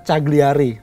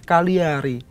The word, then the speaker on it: Cagliari: Umpamanya, taruhlah, kalau orang baca biasa, Cagliari, itu salah satu klub di Italia. Ya, tapi kalau orang yang tahu, itu bacanya bukan Cagliari, Cagliari.